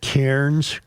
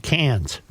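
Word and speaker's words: Cairns: Joe, yesterday we said that the traveling lymans were in I pronounce it Kairens, Queensland. Santael Jim tells me it's pronounced cans.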